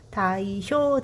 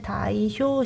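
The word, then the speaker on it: 大正: 다이쇼 데모크라시. 다이쇼 데모크라시는 다이쇼 시대. 여러분 뭐 대정시대 발음을 다이쇼라고 하는데 일본 발음으로 1922년 1926년 다이쇼라는 연호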